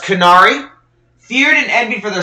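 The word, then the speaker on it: Qunari: we have the uh is pronounced canari feared and envied for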